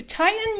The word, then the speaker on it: tighten: but you would hear native speakers pronouncing it like titan with a glottal stop glottal t to tighten your belt so literally